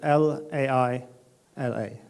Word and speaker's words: Laila: Laila is we spell it L-A-I-L-A, Laila.